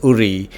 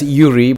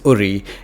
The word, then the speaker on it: Uri: that I visited was URI some spell it as Yuri but to the locals it's URI it's about 102 km